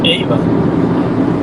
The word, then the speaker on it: Ava: Podría ser, podría ser, porque sí es curioso que se llamaba Ava, pero cuando se pronuncia en inglés es Eva.